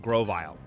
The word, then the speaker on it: Grovyle: Slugma goes down easily but it takes nearly the entire team to take out Grovyle which I now know how to pronounce it's Grove plus reptile duh and then Brendan's Wingull